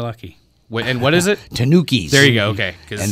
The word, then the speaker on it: Tanukis: And you gave me the correct pronunciation on this next band. You're lucky. And what is it? Tanukis.